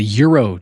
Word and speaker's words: gyro: No, it's a euro, Jake. It's gyro or gyro? It's a euro. That's some money. It's a euro. There's a G. I know, but it's silent.